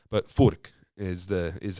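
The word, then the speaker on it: Fuch: or fch guitars f u c h but Fork is the is how you would pronounce it it's a Czech Republic um based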